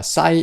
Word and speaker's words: psi: 그래서 오메가 앞에 싸이 오메가인데, 그래서 싸이가 있는데, 뭐 P를 발음을 안 합니다. 실제로 PSI 이렇게 쓰는데 싸이예요, 그냥. 근데 뭐 느낌을 좀 내고 싶은 학생은 입을 좀 다물었다 싸이 이렇게 해도 되고 푸가 안 해도 되거든요.